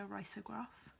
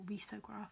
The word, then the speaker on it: risograph: I really recommend looking into risograph or risograph depending on how you pronounce it.